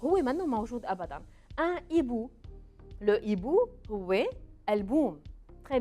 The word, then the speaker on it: hibou: Le H est une lettre que je ne prononce pas. Hibou. ما بقول هيبو.